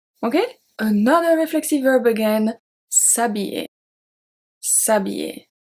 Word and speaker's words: s'habiller: Here the H is a silent H. This is why we don't have se habiller. The silent H acts as a voyelle. So it's S apostrophe and not SE.